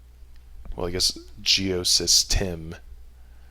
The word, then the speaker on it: Geosystem: Well, I guess Geosystem. I always say Geosystems because it has all kinds of different modules and things that you can do, but technically there's no S at the end.